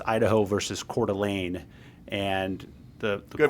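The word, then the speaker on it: Coeur d'Alene: So there's this case from the 90s um it's Idaho versus Celane and the good pronunciation by the way.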